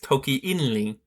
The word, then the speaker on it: Toki Inli: English, the language, is Toki Inli. Here the NG cluster is simplified to N, and the final sh was dropped to prior to the syllable count.